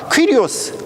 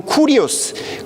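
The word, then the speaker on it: κύριος: 기독교인들이 예수님을 주로 고백했는데 이 주라고 하는 헬라어 단어가 퀴리오스 혹은 쿠리오스, 그렇게 발음을 합니다.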